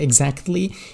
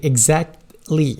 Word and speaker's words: exactly: So as I was saying, T is silent. It's almost like a silent here. You don't say exactly. You say exactly.